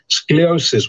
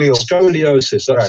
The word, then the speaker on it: scoliosis: she's also got i i can't pronounce it scoliosis i think it's called scleosis which is a a problem with the spine it's called yours it's called scoliosis yes and her her chin